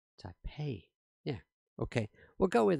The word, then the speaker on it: Taipei: Taipei, pronounced like day. Taipei, yeah, okay.